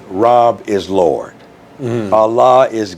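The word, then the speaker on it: Rabb: The Arabic word Rob r a b b phonetically, Rob.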